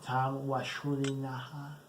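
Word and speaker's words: Tom Wlaschiha: Tom Walashuliha. That's how you pronounce his name, by the way.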